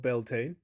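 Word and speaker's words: Beltane: Obviously this includes the Beiela fire festival most commonly called Belta. Neither are incorrect pronunciations. Just whether you want to use the Irish name or a more anglicized name, it's referring to the same thing.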